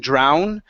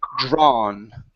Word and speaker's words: drawn: So instead of saying drown, this is going to be drawn, okay?